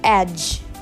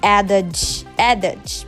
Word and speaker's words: edge: This word is edge. Edge means verge. Some say adage, but it's edge.